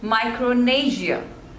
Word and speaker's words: Micronesia: next is Mauritius Mauritius so there are three syllables and stress is on the second one Mauritius Mauritius Mauritius next is Micronesia Micronesia so there are